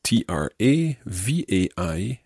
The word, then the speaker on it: travail: i work that is t-r-a-v-a-i-l-l-e and montrevi my work the word travail there is spelled t-r-a-v-a-i-l but they sound exactly the same and that's what we